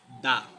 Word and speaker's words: the: লিখি যেমন দা বয় is jumping এখানে আমরা দেখতে পাচ্ছি দা এর পরের ওয়ার্ডটা হচ্ছে কনসোনেন্ট ওয়ার্ড